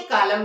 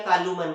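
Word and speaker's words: column: कब होता है तो इसे हम लोग ऐसा नहीं बोलते आर तू मैन या कालू मैन क्या पढ़ते हैं ऑटम और कॉलम क्योंकि एम के बाद जो एन है वो साइलेंट है ये उसके बाद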